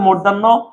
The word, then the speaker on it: মধ্যাহ্ন: কি শিখছি, হর সাথে মধ্যাহ্ন, মধ্যাহ্ন তো উচ্চারণে দন্তন্য হয়ে যাবে, সেটা কিন্তু তোমার মাথায়